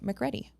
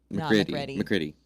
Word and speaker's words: McCready: His name is probably pronounced Hudson McReady. McCready. McCready? Oh, Hudson McCready. golly. Oh, you're right, husband McCready. You're English probably right. is hard. Oh, Hudson McCready. He's a good Irish name.